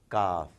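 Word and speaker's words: كاف: There is this special sound coming from inside the throat for Qaf, which is not exactly what is needed in this case. Kaf. You really are relaxed when you are reciting, so when you are pronouncing Kaf, but not quite as much when you're doing Qaf.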